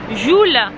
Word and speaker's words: Jewel: Bienvenue à Jewel. Jewel qui se prononce Joule.